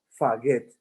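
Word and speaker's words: φαγεῖν: no comen, ese comen, ponga allí palabra griega, faget, se escribe F-A-G-E-T, faget, significa comer en griego.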